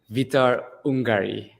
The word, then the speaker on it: Vitor Ungari: And I want to introduce you all to Vitor Ungari. Did I pronounce that correctly, Vitor?